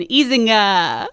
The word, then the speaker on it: Ezinga: to succeed that would be our guest isinga oh wait is that that you can talk that's the perfect uh pronunciation that's actually the first time i feel